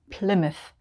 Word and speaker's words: Plymouth: we would say mouth but if it's a place name we just say must like number 11 bournemouth bournemouth and number 12 plymouth plymouth it's very subtle bournemouth plymouth like bournemouth and plymouth in this group names